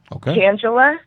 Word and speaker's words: Tangela: you say my name Tangela so ta n GE LA so that's like Angela with the T in front and my last name